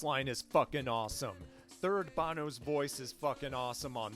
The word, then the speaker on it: Bono: Yes, I know, it's pronounced Bono.